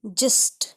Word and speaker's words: gist: Because when I comes after G इट इज generally pronounced as ज. इसको ज़्यादातर ज प्रोनाउंस करते हैं जब G के बाद I आए. जैसे GIST जिस्ट, GIANT जायंट, GIBE जाइब, जिराफ, जिंजर, इंजन या इंजीनियर में भी GI को ज पढ़ते हैं.